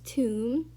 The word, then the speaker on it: tomb: we have here is tomb and you pronounce it as t-o-m without the b because the b is silent the seventh word we